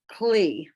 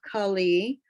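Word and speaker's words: כלי: you will hear the kali, but just say it fast. So, okay. So it sounds more like kli, but it's kali, but it's when it's pronounced quickly, it's kli.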